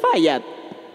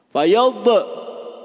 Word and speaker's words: Fayad: Tulis tadi bacanya Fayat. Fayad, gitu bacanya.